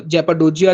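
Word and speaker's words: Cappadocia: सी A double P ए डी ओ सी आई A Turkish language में जो सी word है उसको जे बोलते हैं। ठीक है? तो जेपडोजिया जो है ये भी यहां का एक फेमस पॉइंट है।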